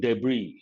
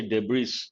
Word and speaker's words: debris: there's another word debris here the letter s is silent we should not say debris that is not correct